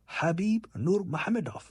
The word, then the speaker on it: Khabib Nurmagomedov: Pronounced Khabib Nurmagomedov.